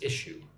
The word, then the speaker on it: issue: Notice how we're going from the S sound like a snake to a sh sound.